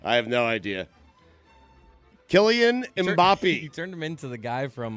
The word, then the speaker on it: Mbappé: Am I pronouncing his name wrong? Yeah, absolutely, sir. Mbappé. Mbappé. It's Mbappé. It's French.